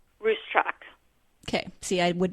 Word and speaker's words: Ruscsak: Say once again how you pronounce your last name? Ruscsak.